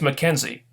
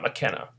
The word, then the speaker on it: Mackenzie: Her name is Mackenzie, not McKenna.